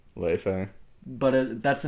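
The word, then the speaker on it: Laufey: her name is le le but that's the name of Loki's mother in Greek myth not Greek in Norse mythology yeah is uh LA or Le her name is pronounced Le technically by Icelandic yeah but uh I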